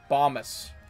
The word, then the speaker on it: Bhomas: even pronounce it right because it looks so weird to be bombus like thomas but with a b okay my name is